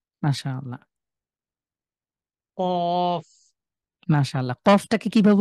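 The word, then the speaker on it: ق: কফটাকে কিভাবে উচ্চারণ করেছেন জাহিদ ভাই, একটু সবাইকে বলেন তো। কফটাও একদম কণ্ঠনালীর ভিতর থেকে করেছে আর কি। হ্যাঁ, একটু ধাক্কা দিয়ে বা কণ্ঠের ধাক্কা।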